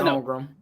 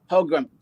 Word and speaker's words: Holmgren: How do you pronounce it? Chet Holmgren. Holmgren.